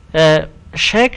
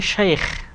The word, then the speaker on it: শাইখ: যাই হোক, শেখ শব্দটি আসলে আরবিতে শাইখ, আমরা অনেক সময় ভুলে বলি শেখ, শেখ না শাইখ শব্দটির আসল উচ্চারণ।